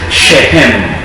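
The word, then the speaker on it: שכם: El nombre verdadero y en hebreo es shehem. Shehem. Y si ya saben pronunciar la she, entonces ya sabe que empieza con sh y termina en jmina en n.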